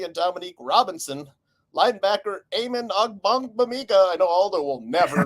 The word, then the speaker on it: Ogbogbemiga: ends Daniel Hardy and Dominique Robinson, linebacker Eamon Ogbogbemiga. I know Aldo will never be able to pronounce that. Nope. It's Ogbogbemiga.